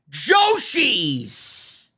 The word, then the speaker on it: Joshi: arguing with me over joies oh man Joi rhymes with Yoshi and I'd rather be